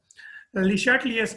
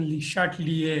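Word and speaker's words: Le Chatelier: अच्छा, ले चाटलियर्स प्रिंसिपल। ये ले चाटलियर्स प्रिंसिपल क्या? ये एक फ्रेंच केमिस्ट था, हेनरी ले चाटलियर। इसको लीचैटलियर भी प्रोनाउंस करते हैं, बट इसकी सही प्रोनाउंसिएशन लीशाटलिए है, ठीक है।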